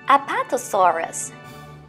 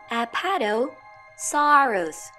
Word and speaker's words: Apatosaurus: you know his name it's apatosaurus apatosaurus repeat with me apato soros apatosarus next one is one